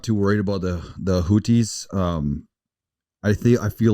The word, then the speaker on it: Houthi: The United States and the UK military are currently conducting airstrikes against, and how do you pronounce this, Cody? You said Houthi? The Houthis.